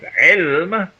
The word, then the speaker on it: عِلْم: And the word ayn, lam, mim can be pronounced in 2 different ways. It can be pronounced as ilm, which is knowledge, but it can also be pronounced as alam, which is a sign.